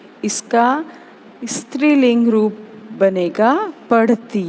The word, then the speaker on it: स्त्रीलिंग: स्त्रीलिंग नहीं, स्त्रीलिंग। ध्यान रखें, उच्चारण आपका शुद्ध होना चाहिए।